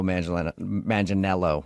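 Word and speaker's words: Manganiello: say he looks like Joe Mangel Manelo, right? That's how you say it.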